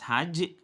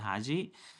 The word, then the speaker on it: Hajj: And the last one is Hajj, or I think in other pronunciation, it's called Haji.